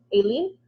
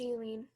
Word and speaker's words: Eileen: Aileen? Sorry, I'm pronouncing your name wrong, huh? It's Eileen.